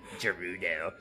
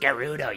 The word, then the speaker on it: Gerudo: lot of respect - Rudel it's pronounced Gerudo you stupid [ __